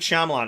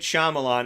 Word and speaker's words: Shyamalan: them it's just like when I think about his name I think about rama lama but you know because it's like it's a lot of syllables whatever don't judge so M Night Shyamalan and I'm a big